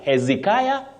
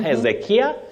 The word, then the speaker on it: Hezekiah: English Okay Victor mandila Hezekiah and Z not heia or Z then lastly Steve Kam